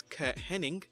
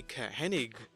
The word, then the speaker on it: Curt Hennig: with many fans still remembering it as Kurt Hennig when it was actually Kurt Hennig.